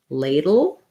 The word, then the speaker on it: ladle: word was ladle so this is a good example just like in the word little where i have to do a flap a d and or flap t right into a dark l there's a little bit of a schwa in there ladle little but mostly i'm going from the d dropping the back of my tongue down into the schwa position and leaving the front of the tongue up for the l dull